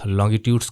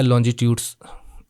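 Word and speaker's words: longitudes: से पोल जाती हैं, तो इनको हम लॉन्गिट्यूड्स कहते हैं या लॉन्जिट्यूड्स, आप दोनों प्रोनाउंसिएशन चलता है, कहते हैं।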